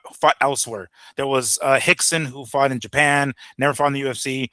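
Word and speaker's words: Rickson: No, Hixon. Hixon. I mean, they all start with a with a letter R, but it's pronounced with an H, right? But it's it's Hixon.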